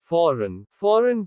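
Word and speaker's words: foreign: G is silent before un. जब G अन के पहले आता है तो G का उच्चारण नहीं होता। साइन संकेत। फॉरेन विदेशी।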